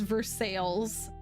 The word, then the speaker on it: Versailles: Versa but everyone says it as verses that blows my absolute mind as someone who has actually been to Versailles in France that's bananas that makes me so mad yeah I literally didn't know that it was pronounced any differently until we were taught the French Revolution in high school wow wow that's amazing